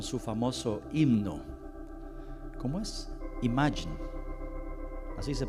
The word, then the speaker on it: Imagine: Imagine, así se pronuncia.